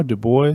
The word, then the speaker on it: Dubois: you had construction company dubois du bois yeah dubois and uh that's a wyoming pronunciation by the way dubois um anyway um